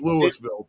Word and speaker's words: Louisville: exact same name, but that's not how we pronounce it over here. It's Louisville, period.